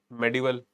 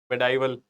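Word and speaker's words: medieval: तो ये अपना हो गया मेडिवल, मेडाइवल, जैसे मर्जी आप प्रोनाउंस कर लें।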